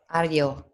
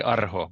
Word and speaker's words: Aho: Ario. Ario. Ario's chart. Like Aryan. Yes. Fish race. Yeah, yes. In Spanish they say Arho, but in Finnish we say Ario.